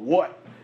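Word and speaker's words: Wut: Then there's another one that's on the rise called What. It's spelled W-U-T, and this allows you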